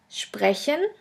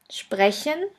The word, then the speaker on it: sprechen: The next letter combination is SP, SP, ST, ST, which is pronounced like the letter combination SHP and SHT. Let's have a look at the examples. The first word is sprechen, sprechen, which means to speak,